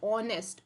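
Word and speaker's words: honest: बट ये क्या हो जाएगा, गलत हो जाएगा, क्योंकि ऑनेस्ट, ऑनेस्ट में हमारा प्रोनाउंसिएशन क्या आ रहा है, ओ का प्रोनाउंसिएशन आ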